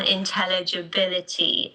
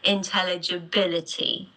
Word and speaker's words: intelligibility: But listen to me, intelligibility. The last one, Bercy, but Layla on bit, which is 5, okay?